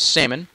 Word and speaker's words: salmon: It's actually pronounced salmon.